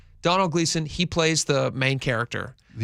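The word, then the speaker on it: Domhnall Gleeson: And uh is it Donald Gleason? Is that how you pronounce his name? Yeah. Donald Gleason.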